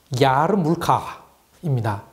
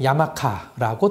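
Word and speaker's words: יאַרמלקע: 그런데 이리시로는 다르게 부릅니다. 좀 어렵습니다. 야르물카입니다. 이게 영어권에서는 쉽게 야마카라고 들렸던 것 같습니다. 단어 끝에 아인 발음이 있어서 정말 발음하기 힘든 단어입니다.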